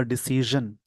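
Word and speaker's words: decision: इस वर्ड का जो प्रोनाउंसिएशन होगा डिसीजन, एक जे से ज होता है, जेड से ज खींचने वाला साउंड।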